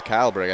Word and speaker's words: Kyleberg: Yeah, Kilberg had the foul there. Excuse us, Kyleberg. I think we've been mispronouncing his name here, but that's whatever.